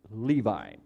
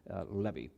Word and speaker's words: Levi: Therefore his name was called Levi, or you would probably pronounce it Levi. Hebrew pronunciation, Jewish pronunciation, Levi. So excuse me if I call him Levi because I'm used to it.